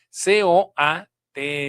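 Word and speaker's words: COATL: la siglas, que es C O A T L. Se pronuncia coat, pero no es una palabra corrida, es son las siglas.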